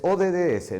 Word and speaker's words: ODDS: ¿Es ODDS, no José María, o ODS? Es una pronunciación. ODS.